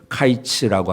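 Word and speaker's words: קַיִץ: 끝이라고 표현을 합니다 내 히브리어로 이제 여름 과일이라고 하는 그 단어는 카이츠라고 하는 단어입니다 근데 끝이라고 하는 말은 캣츠라고 하는 단어입니다 그러니까 비슷한 말이에요 발음이 비슷합니다 뜻은 다르지만 그러니까 하나님께서이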